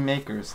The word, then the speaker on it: Mkers: Supposed to be makers. They just skipped the A.